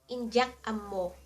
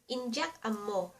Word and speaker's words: Indyak ammo: To say I don't know in Ilocano, Indyak ammo In dyak (say it like jack) am mo Indyak ammo In dyak dyak am mo Indyak ammo And what about I know?